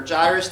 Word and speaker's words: Jairus: like the story of Jairus his daughter or gyres depending on how you want to pronounce it you know so he's